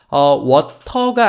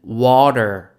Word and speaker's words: water: 수 있게 돼요 자 워터가 아니라요 단어는 water water the라고 읽혔어요 t 발음이 마치 리을처럼 들리지 않으십니까 water 아니고 워터 영어로 물은 water예요 그 밑에 볼까요 제가